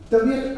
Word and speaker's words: Tabiyat: Tabiyat, I must say, is a little attractive word. A two-syllable word, short, sharp, with a staccato-like effect.